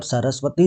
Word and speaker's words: सरस्वती: होता दंत होता है जैसे आप सरस्वती जी बोलेंगे सरस्वती जी तो आपका जो जीभ है वो दांतों से टकराए गी इनका जो उच्चारण स्थान